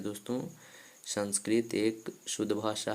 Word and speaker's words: संस्कृत: बता डन दोस्तों की जो संस्कृत का उच्चारण होता है वह संस्कृति नहीं होता है दोस्तों उसका शुद्ध उच्चारण संस्कृत होता है दोस्तों शाम स्क्रीन जो